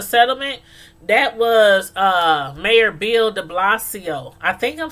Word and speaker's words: Bill de Blasio: that was uh Mayor Bill DeBlasio I think I'm saying that right did not please correct me but I think it's pronounced bill de blasio de Blas de Blasio okay okay but yeah